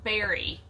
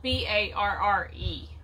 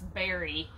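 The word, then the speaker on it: Barre: we think it's pronounced berry it's spelled b-a-r-r-e so of course i would have said bar but we think it's barry yes vermont and so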